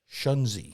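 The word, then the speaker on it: Shunzhi: pronounce his name he's the emperor of china shanzi spell it s-h-u-n-z-h-i shanzi they're quick with the z's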